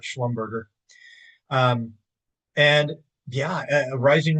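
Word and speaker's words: Schlumberger: Yes, I know it's pronounced sch slumber, but it's much more fun to call it sch slumbberger.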